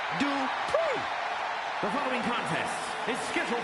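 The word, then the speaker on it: Maxine Dupri: Michael, it's pronounced Dupree.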